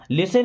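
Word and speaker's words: listen: चाहिए लिसन टू मी लिसन word में T silent होता है लिसन टू मी मीस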